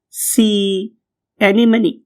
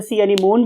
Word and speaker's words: sea anemone: and other one is sea anemone. Right. बहुत से लोग इसे sea anemone भी कहते हैं. ये this is a wrong pronunciation. True pronunciation is sea anemone.